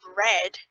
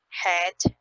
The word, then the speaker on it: red: So in Brazilian Portuguese, the letter R in initial position is pronounced like a H in American English. In English, for example, the word, so the color red, a lot of my students might pronounce that word as head, or restaurant for restaurant.